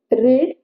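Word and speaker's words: read: याचं first form second form आणि third form spelling सेमच असत रेड हे आहेवन23 पण आपण हे रीड करताना काय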